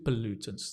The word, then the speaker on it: pollutant: the pole becomes and the stress is on the Lou Lou it sounds like a Chinese name or a Vietnamese name right so you've got that stress on the per Lu try pollutant nice and this is the